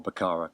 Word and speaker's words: Baccara: Cleo car or bakara I've heard different pronunciations for bakara but I'm going for bakara because I'm British Marlene and I think if I try and make it sound anything other than British it's going to sound awful so we're going